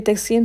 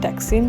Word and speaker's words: Taksim: Now we are here at the heartbeat of Istanbul, तकसीम square, जिसको Turkish अपनी pronunciation में तकसीम कहते हैं और हम तकसीम कहते हैं, जैसे प्रोनाउंसिएशन डिफरेंस।